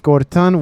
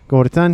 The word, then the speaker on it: Gorton: have as a serapim it is Gorton with a T. I probably will say his name with a D by accident but again he is Gorton.